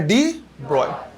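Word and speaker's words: de Broglie: जो प्रोनाउंसिएशन होता है वो क्या होता है? ब्रॉय, है ना? तो नाम हमें कैसा बोलना है? डी ब्रॉय।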